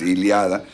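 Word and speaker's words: Ilíada: 800 antes de Cristo iliada o ilada iliada con acento en la iliada ilada iliada es iliada este donde Bueno pues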